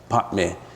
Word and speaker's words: Padme: Padme, if you pronounce it right, is Padme.